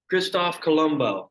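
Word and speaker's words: Cristoforo Colombo: Empire too all right Kristoff Columbo that's actually how you pronounce his name all right anyway here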